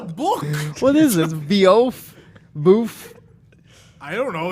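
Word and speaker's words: bœuf: Boof? I don't know. It's definitely not Beowulf. It's a bouffe braised a la Bordelaise.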